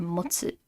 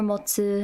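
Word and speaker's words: 持つ: And then ji or motsu. This is another one that has the temple radical. They have, hold. That's ji or motsu.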